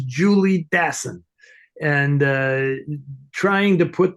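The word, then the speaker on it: Jules Dassin: people who call uh who say jul daan jeul daan instead of Jules dason he is not French he he is an American he's a New Yorker his name is Julie daon and uh trying to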